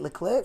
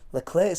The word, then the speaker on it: Leclerc: team radio message saying, Leclerc's got a little bit of damage. They say Leclerc, I say Leclerc. I don't know. Leclerc. Charles Leclerc. It's probably correct pronunciation, but I'm not going